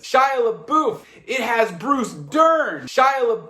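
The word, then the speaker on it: Shia LaBeouf: to finish it has Shia LeBouf that's how you say it right yes it is Shia LeBouf it has Bruce Dern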